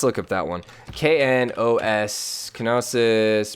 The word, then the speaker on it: Knossos: Gnosis? Knossos. Knossos, okay. Zanzibar I can say. Eretir? Knossos. Gnosis? Knossos. So like Knossos. Okay. So like the KN is like the K is silent.